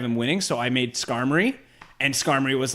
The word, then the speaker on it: Skarmory: Like, I knew enough about Gen 2, but there's a few Pokemon I never discovered before, like Sky Armor. It's the bird that's made of steel. Sky Armor. Skarmory, that's it.